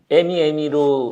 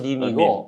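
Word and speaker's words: meme: 근데 밈이 에미로 에미. 그런데 라스트에 있는 이는 사일런트거든요. 그래서 그게 밈입니다. 밈. 영어 발음은 밈이고 어쨌든 저런 그림은 그림 한 컷으로 100을 말하고 있습니다.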